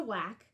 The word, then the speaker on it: WAAC: so first we have the w-a-a-c which is pronounced the whack and it's the women's army auxiliary core but